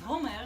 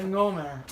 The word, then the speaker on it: Omer: But it wasn't pronounced Homer Oh, because right, they I didn't know.